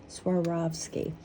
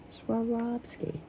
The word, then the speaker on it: Swarovski: have a little bit of anxiety before they pronounce that company sski Swarovski Swarovski see there is also the swan on the